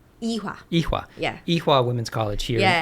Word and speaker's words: Ewha: So then you go to, I'm probably going to pronounce this wrong. Ewha? Ewha.